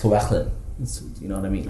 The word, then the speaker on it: Llewellyn: It's actually pronounced Llewellyn.